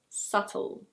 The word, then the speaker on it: subtle: And now some words with a silent B. This word is: subtle.